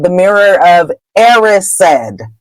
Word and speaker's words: Erised: called The Mirror of Erised. That is the proper way to say that word. If you read the chapters aloud on YouTube, the word is Erised.